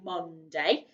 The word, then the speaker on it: Monday: And it's spelled like Monday, but we don't say Monday. We say Monday. And there, the letter O is making the U sound.